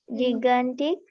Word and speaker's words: gigantic: Gigantic. Okay, so this word here has a soft G and a hard G sound.